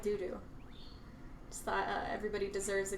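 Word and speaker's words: Dudu: right now is called Doo Doo. Just thought everybody deserves a good laugh. Play kid. One of my friends, Elsa, Emma on the chat bought it for me. It's spelled D-U-D-U, so it's doo-doo.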